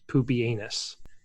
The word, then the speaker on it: Pupienus: There was a Roman emperor named Pupienus Maximus, pronounced Pupienus.